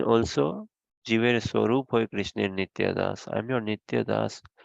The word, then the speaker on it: nitya: Can you explain what does Nita does in the What does? uh I, I'm not sure if I'm pronouncing it right. It's like Nita does or something like that. Oh, Nitya, okay.